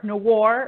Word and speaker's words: noir: I failed French at school, but I still know it's pronounced noir.